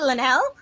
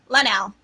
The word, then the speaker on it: Lanell: Her name is Lanelle. Lanell.